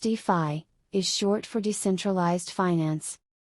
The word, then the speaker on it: DeFi: what is defy defy pronounced d phi is short for decentralized